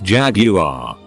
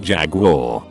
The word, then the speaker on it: Jaguar: When we were talking cars and I pronounced the make Jaguar, Doucher bag on the next stool takes the time to lean over and say it's pronounced Jaguar.